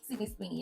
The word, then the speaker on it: Sydney Sweeney: Next, we have Sydney Sweeney. Am I saying it right? Sydney Sweeney.